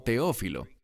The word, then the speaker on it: Teófilo: Y noten que dice aquí que está escribiéndole a, literalmente dice en griego, Teófile. Normalmente pronunciamos esto como Teófilo.